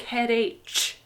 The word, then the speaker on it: headache: English many people think headache this should sound like H cuz there's a CH h no it sounds like cup head ache so this is ache